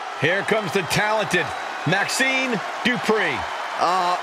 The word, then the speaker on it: Dupri: Here comes the talented Maxine Dupri. Michael, it's pronounced Dupri.